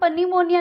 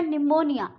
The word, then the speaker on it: pneumonia: पनीमोनिया नहीं बोलेंगे हम इसको, PNEUMONIA, इसको हम पनीमोनिया नहीं बोलेंगे, यहाँ पे हो गया P साइलेंट. ये हो गया निमोनिया. साइकियाट्रिस्ट नहीं बोलेंगे इसको, इसको हम बोलेंगे साइकियाट्रिस्ट.